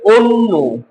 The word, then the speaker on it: অন্য: সংত হয় তার মানে অটা ও এর মত উচ্চারণ করতে হবে পদ্য হয়ে যাবে পদ্য গদ্য হয়ে যাবে গদ্য অন্য হয়ে যাবে অন্য জন্য হয়ে যাবে জন্য ওকে এগুলো কিন্তু লিখে